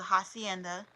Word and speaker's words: Jacienda: It was a week after she gave birth to Hacienda, but it's spelled like Jacienda, and Spencer.